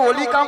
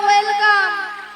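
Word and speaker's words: welcome: আমাকে যেই দেখে বলে মাসি তোমাকে দেখতে কিন্তু অলিকাম দেখতে, অলিকাম। ওলিকাম নয়, বলো ওয়েলকাম।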